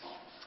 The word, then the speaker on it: cent: E-N c'est EN, et le T on prononce pas, donc c'est sans.